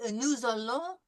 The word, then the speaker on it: nous allons: Now you'll notice that we make a liaison from the S to the A because the S is followed by a vowel. So normally we would say nous, but we have allons, so nous allons nous entraîner à prononcer quelques voyelles françaises.